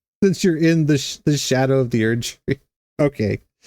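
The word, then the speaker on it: Scadu: later is it really Shadow I mean that would make makes sense since you're in the the shadow of the Ury okay it's it's spelled SCU but it's pronounced Shadow that's fair that's fair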